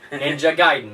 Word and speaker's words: Gaiden: Not Ninja Gaiden, Ninja Gaiden. Everybody used to pronounce it incorrectly when we were kids, but Ninja Gaiden on the Xbox, and it is a hard...